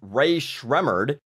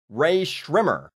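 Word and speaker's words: Rae Sremmurd: Their website says this mess that looks like it should be pronounced Ray Schremmered is actually pronounced Ray Schrimmer.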